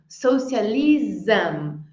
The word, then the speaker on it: socialism: Vamos repetir Iron as palavras terminadas em SM a gente quer pronunciar tipo não sei muito bem como que os querem pronunciar mas o termina com som de z socialism journalism Então repete aím